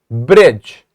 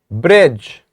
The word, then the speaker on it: bridge: you see them yes Bridge the D is a silent letter when we are saying